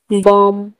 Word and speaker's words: balm: अभी एन का, काम, CALM, काम, M के आगे L है तो L साइलेंट होगा। बॉम, BALM, बॉम।